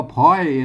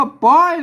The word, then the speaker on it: ปล่อย: เนี่ย เห็น มั้ย อ่า คน ทั่ว ไป มา อ่าน ว่า พลอย นะ แล้ว มัน บ่ ใช่ ครับ ท่าน จะ ต้อง อ่าน ว่า ไป นะ ครับ แหม อัน นี้ มัน จบ ป้า นะ ครับ อ่า ท่าน จะ อ่าน ต้อง อ่าน ว่า ปล่อย นะ ครับ แหม่ กรรม